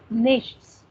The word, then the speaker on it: nichts: So, this particular word is actually nichts. So, in the colloquial language, German people and Schweiz people basically they pronounce it as nix.